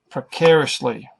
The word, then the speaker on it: precariously: foot being placed precariously precariously precariously the middle is the strong emphasized simple syllable